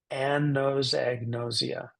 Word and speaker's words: anosognosia: of a woman named an who knows an egg and she's very nosy an knows egn noia I I would invite you out loud right now watching me on the count of three to pronounce this word so beautifully as chi-ching did 1 two 3 anos agnosia again it's important to